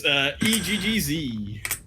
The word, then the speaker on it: eGGz: eGGz. No, not S. eGGz.